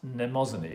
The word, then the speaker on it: Mnemosyne: That's pronounced mnemosyne, isn't it? With an N at the beginning.